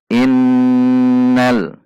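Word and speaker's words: إِنَّ: Hati-hati, jika kita membacanya secara singkat, itu tidak benar. Misalnya, jika dibaca " innal,""innal," itu berarti tidak ada dengungan. Ini tidak benar. Seharusnya berupa dengung dua ketukan. Innal.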